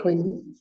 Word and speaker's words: koiné: koiné. Koiné, sí, con acento en la E.